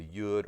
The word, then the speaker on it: yud: we know it as the yud or yod, depending on how you pronounce it. It's going to be the 10th letter, and that's actually the letter that Yeshua begins with, the yud or yod.